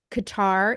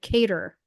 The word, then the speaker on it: Qatar: Israel the US and Qatar is it Qatar because I swear a reporter called it kater no it's qar and I always pronounce things wrong but I thought it was Qatar um but they've all